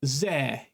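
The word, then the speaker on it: ぜ: In anime, you might also hear this pronounced actually as ze instead of zo.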